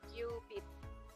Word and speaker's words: cubit: satuan yang namanya cubit tapi bukan cubit-cubitan ya kita Bacanya adalah kubit nah Ternyata kalau kita